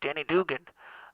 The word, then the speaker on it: Denny Duggan: want to tell you it is danny but it is also dugan so it's danny dugan uh is my name